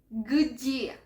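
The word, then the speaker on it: где: siguiente pregunta G gia cuando voy a pronunciar esta palabra voy primero pronunciar la letra g y después y porque son dos consonantes cerca no tengo que meter ningún tipo de sonido suave tipo vocal no voy a dañar la pronunciación es muy importante Este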